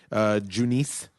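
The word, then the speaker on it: Junis: threw the no-hitter yesterday, Junice. Junice? How do you say his name? Eunice, I do.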